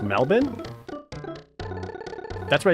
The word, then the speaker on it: Melbourne: It's pronounced Melbourne.